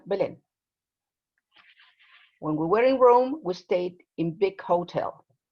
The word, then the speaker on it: Rome: in here catalina this this word is roma it's it is pronounced rome it's a it's a it's a dip song oh rome it's not wrong it's rome okay okay okay um